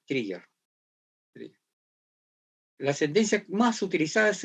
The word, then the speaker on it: trigger: Pero esta acá se pronuncia con I, trigger.